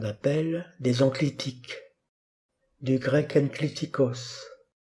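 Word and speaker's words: ἐγκλιτικός: En effet, ce sont ce qu'on appelle des enclitiques, du grec enklitikos. Epsilon esprit doux gamma kappa, gamma devant kappa se prononce nu, sinon le mot ne serait pas prononçable, logiquement translittéré n en français.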